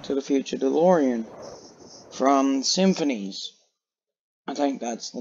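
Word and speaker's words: simfphys: Symphonies, yeah, that's how you say it, I think. Because it's got S-I-M-F-P-H-Y-S. It's a weird way to spell it.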